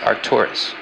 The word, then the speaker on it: Arcturus: is pronounced spika and boes brightest star is pronounced Arcturus Libra is Hercules neighbor to the South she